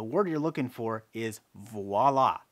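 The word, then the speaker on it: voilà: you're looking for is voila, not voila. It's v o i l a with a v as in victor.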